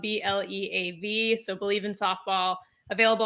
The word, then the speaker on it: Bleav: Yes, Bleav in Softball Season 4 is launching.